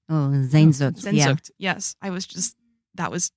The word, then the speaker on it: Sehnsucht: I'm going to pronounce this wrong. Sensucht? Oh, Sehnsucht.